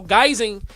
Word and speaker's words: guising: But but but but there's that soul in piece, but then did you see uh guising? No. Like Okay. So guising, it's like think disguising.